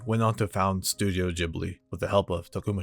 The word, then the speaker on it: Ghibli: So the word in Arabic is actually pronounced Ghibli with a hard G. But when the word was written out in Japanese for the studio name, the katakana character that would coincide with the G ended up being the character G, making it sound like a soft G.